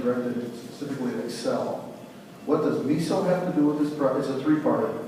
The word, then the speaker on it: MISO: this what are their bits uh miso it's miso that's different people want to pronounce it I guess it is a regional